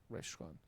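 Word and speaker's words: רִאשׁוֹן: Por ejemplo, re res rehon reshon. Aquí la palabra, la letra alef en la palabra anterior es silenciosa.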